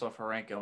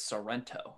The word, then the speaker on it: Sofarenko: that there's nothing like my last name pronounced sofarenko and someone that says sorrento i'm like yeah like